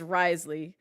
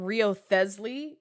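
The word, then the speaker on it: Wriothesley: Risley's name is Risley. I've been calling him Riosley when I tried to pronounce his name.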